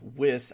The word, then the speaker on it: Wyss: After Tina, Amanda Wyss, I think is how you pronounce her last name, even though it sounds like Weiss, gets flayed, dragged up a wall, and basically leaves a bloody mess.